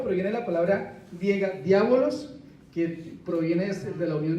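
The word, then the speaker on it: διάβολος: ¿Cómo se pronuncia esto? Eso es griego. Diabolos.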